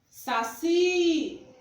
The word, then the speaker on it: saci: Saci. A sílaba tônica é si.